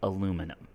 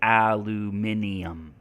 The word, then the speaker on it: aluminium: a lot like in in American English we say aluminum in British English they say aluminium in American English we